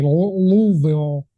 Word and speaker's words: Louisville: San Antonio, Oklahoma City, Nashville, Louisville, or if you're from there, you're probably saying I'm not pronouncing right. I got to put marbles in my mouth and say Louisville.